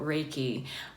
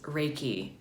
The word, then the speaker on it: Reiki: just gonna talk about Reiki what is Reiki how do you say it this is a common question how did you say that again it's composed of of two words ray and key and the loose translation